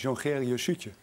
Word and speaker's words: Jongeriusje: Een Jongerius Jusje, daar spreek je dus uit als Jongerius Jutje.